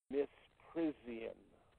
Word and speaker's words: misprision: The crime they are committing, according to the cell, is pronounced in our language misprision.